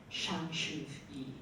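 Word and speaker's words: Shang Su Yi: And and the story is based around this imperious matriarch, Shang Shu-yi, right? Good pronunciation.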